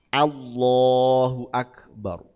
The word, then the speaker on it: Allahu akbar: Allah o Allahu akbar Jadi bukan a ng Allahu akbar mestinya gitu Allahu akbar A jadi harus a bukan O ini yang sering Nah